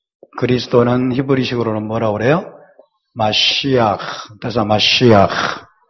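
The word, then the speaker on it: משיח: 중요한이 친구들은 히브리어로 하면 굉장히 좋습니다 히브리어 원래 발음이 때문에 자 함께 볼까요 예슈아 예슈아 마시아 마시아 바라면 어 목 뒤에서 가래를 듯이는내는 그런 발음이에요 해봅시다 마시아 마시아 마 예 마시아 그다음에 엘로힘 엘로 루하코 루하코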